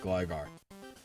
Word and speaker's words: Gligar: For Gligar, since there's a following vowel and only one consonant, it's by default pronounced Gligar.